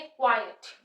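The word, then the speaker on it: quiet: रहती है first is इसको हम बोलेंगे क्वाइट जैसे हम क्वाइट मींस चुप रहना हम बोलते हैं क्लास रूम में टीचर्स बोलती है क्वाइट कीप क्वाइट तो यहां पे जो स्ट्रेस फर्स्ट पे आ जाएगा क व व डब्लू व य पे व व साउंड वा आ इ अ यहां पे फिर से थोंग आ रहा है आय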